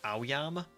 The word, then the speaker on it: Aoyama: So the AO is pronounced like ow, and the Yama is just pronounced the same as itself. So it's Aoyama.